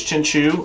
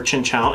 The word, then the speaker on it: Chinchou: It's Chinchou. I didn't know if it was Chinchu or Chinchou. It's Chinchou according to that, so okay.